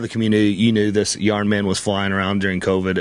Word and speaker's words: Yarn Man: simpson to sign my yawn man uh it's pronounced yarn man but if you go with old wolf he pronounces it yawn man and uh don simpson thought that was really